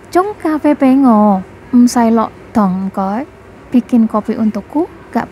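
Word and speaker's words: 湯: Kita lanjutkan dengan kata dong yang artinya sup atau kuah. Nah, dong yang artinya sup atau kuah diucapkan dengan nada agak tinggi dan panjang.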